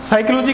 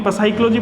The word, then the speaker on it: psychology: हमने ये पढ़ा साइकोलॉजी, अगर ये फर्स्ट लेटर साइलेंट नहीं होता, क्या हमने इसको कभी पसाइकोलॉजी पढ़ा, पसाइकोलॉजी नहीं पढ़ा, क्योंकि ये इसका सही रूप नहीं है।